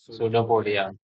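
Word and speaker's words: pseudopodia: है ी रेडी है सूडो पडिया सोडिया सूडो पोडिया नहीं चालू सो उसको हम लोग बोलते लेकिन प साइलेंट होता पी एस सनो पोडिया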